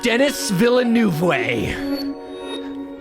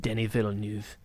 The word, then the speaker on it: Denis Villeneuve: are talking about dennis villanuevae i'm kidding he's pronounced denny villeneuve uh i don't even think he pronounces it how most people pronounce it anyway my name is